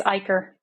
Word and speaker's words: Eicher: of the episode I have Aaron with me pronounce your last name because I'm gonna say it wrong it's ier ier okay so I have Aaron ier with